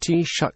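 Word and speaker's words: Taoiseach: the head of the government is the teacher pronounced T shut which means chief the tea shake is the leader of the political party with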